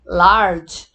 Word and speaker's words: large: Só que nós não pronunciamos a vogal final, né? Então aqui é nice, safe, large. Então todas essas palavrinhas aqui, apesar de terem duas vogais, como a gente não pronuncia o E final, então elas são consideradas